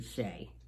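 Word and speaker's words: Chelly: i really like canada canyon de shea it's um we spell it c-h-e-l-l-y it's beautiful i visited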